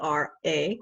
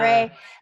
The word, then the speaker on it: Ra: So, um, the Egyptian god, I think it's pronounced Ray, but it's spelled R-A. Ra. Some Um, people say Ra, some people say yeah. Ray, but you had not known that at the time.